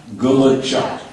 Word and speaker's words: Gulachok: me and we can you know get the pronunciation down okay wood chuck woodu gachu gck wood chuck Gula Chuck garbage trucku gachu garbage truck gachu gar g